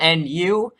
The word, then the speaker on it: NU: So there's a new tier, and it's called NU, that can be phonetically said as new, and in that way, it's you know what?